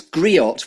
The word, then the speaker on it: griot: third piece yet which I think is it's griot which is a new word that I've learned by researching you have I pronounced that correctly um yeah the tea is